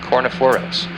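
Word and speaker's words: Kornephoros: claw of the Scorpion Hercules brightest star is pronounced cor foros and Corona boreal's brightest star is pronounced ala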